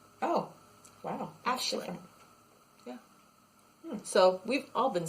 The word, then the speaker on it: Aisling: And it's pronounced with an SH sound. It's Aisling. Oh, wow. Aisling.